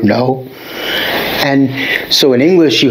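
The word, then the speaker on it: の: particle this word and it's no just sounds like the word no and so in english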